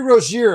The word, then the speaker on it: Rozier: It's Terry Roier, everyone. It's the way it's been sounding for a long time and they just couldn't couldn't quite grasp it.